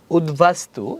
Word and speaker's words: উদ্বাস্তু: বফলা যে বটা বটা উদ উপসর্গ এর সাথে যদি বফলা থাকলে উচ্চারণ অক্ষর থাকবে মানে উচ্চারণ আগের মত থাকবে চেঞ্জ হবে না ওকে উদ্বাস্তু দেখতে পারছো তোমরা তোমাদের